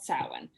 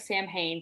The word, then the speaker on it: Samhain: So on Halloween, the October 31st, in ancient Celtic traditions and in modern day witchcraft, it's called Samhain. It looks like Sam Hain, but it's pronounced Samhain. So that is the witch's new year.